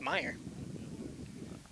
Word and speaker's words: Meyer: Getting some help from the first base coach on how to pronounce the name. It's Meyer.